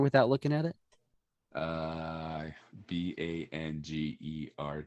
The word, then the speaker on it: Bangerter: Uh, b a n g er t e er. Yeah, you're right. Good job. Just seen it so many times. But we still still sounds like banger.